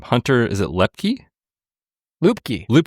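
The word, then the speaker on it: Luepke: Is it Lepkkey? Loopkey. Loopkey.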